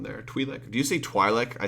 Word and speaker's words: Twi'lek: Twi'lek do you see Twi'lek I say Twi'lek right I've heard people say Twilight before and I don't believe that's how it's pronounced at all as matter